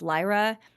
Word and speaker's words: Lyra: I as a child pronounced it LRA because now that there's been audiobooks and movies and whatnot, I know it is pronounced Lyra in the context of the book.